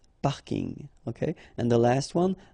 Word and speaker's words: parking: parking as well so I know it's coming from English but still you should pronounce it the French way Bing parking okay and the last